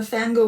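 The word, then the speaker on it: Phangirl: Hey Chris and Raidercast, it's here, that's Fangirl with a silent P on social media.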